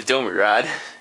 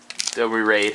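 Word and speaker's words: Domri Rade: So this was a very weak pack for draft, except for of course the Domri Rod, Domri Raid, however you want to pronounce it. I pronounce it Domri Rod.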